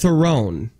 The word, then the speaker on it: Theron: Okay, she is on record saying Theron. Right. But then she's come back and said it's pronounced Theron.